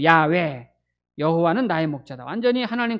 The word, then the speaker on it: 야훼: 원래 히브리 발음은 야훼죠. 야훼.